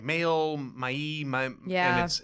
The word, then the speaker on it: Maille: And the amazing Maille product. Am I saying that right? Is it Maille? Yes. Yeah. Okay. Yep. And I know most people are like Maille, Maille.